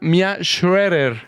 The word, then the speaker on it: Mía Schroeder: y nada menos de la famosa Mía Schroeder. ¿Es correcto? ¿Sí dije bien, Mía? Perfectísimo. ¿Sí lo pronuncié bien? Perfectísimo, amigo.